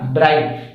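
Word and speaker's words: bright: आर आई जी एच टी, क्या हो जाएगा, ब्राइट, क्योंकि बी और आर के लिए ब्र में आई का उच्चारण ब्राइट, और टी के लिए टा, जीएच को पढ़ा नहीं जाएगा।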